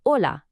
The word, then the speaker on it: hola: It is always silent. You'll see it written all the time in words like hola and ahora, but you will never, ever hear it pronounced.